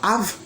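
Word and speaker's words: אב: Je prononce normalement Av, avec un Aleph et puis un Bet.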